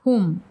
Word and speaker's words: hum: and exhalation and use the word h pronounced whom during kumbhaka.